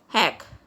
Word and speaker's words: Jack: Anna says, Jack said, heck. Guys, remember one thing, J is pronounced as H in Spanish, so it is pronounced as heck.